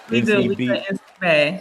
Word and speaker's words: NCBAE: Uh, she is founder of, uh, is it pronounced NC Bay? Is that how you do the abbreviation? NC Bay.